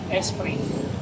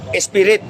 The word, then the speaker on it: Esprit: Esprit. Spirit. Esprit. Esprit ang tawag, hindi spirit. Yung iba, Esprit. Silent T yan, Esprit. Silent T, no? Tulog yung T.